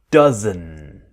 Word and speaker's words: doesn't: idea does not doesn't but what happens the d is silent it disappears so we want that strong n dozen dozen and it will